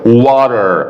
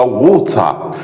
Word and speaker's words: water: وطبعا الدبليو اي هنا بننطقها وا مفتوحه عشان الامريكان اكسنت بيبقى مفتوحه وا، لكن البريتش بيقولها ووتا، ووتا بالبريتش، لكن الامريكان واتر، واتر.